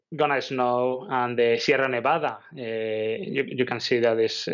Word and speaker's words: Sierra Nevada: If you go to Sierra Nevada, you want to see the Sierra Nevada, right? Exactly, exactly that. Very good pronunciation of the double R there, Stuart.